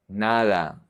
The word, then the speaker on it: nada: The D is soft and relaxed also. We have nada, nada, nada, nothing, nada, todo, todo, todo, everything.